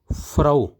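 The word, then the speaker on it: Frau: मिसाल के तौर पर एफ आर ए यू फराओ फराओ जो है वो मेन को कहते हैं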